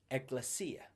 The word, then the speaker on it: ekklesia: see that it comes from a Greek word pronounced ekklesia.